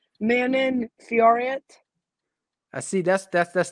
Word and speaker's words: Manon Fiorot: but how how do you say it don't manin manon fiorent i see that's that's that's the american thing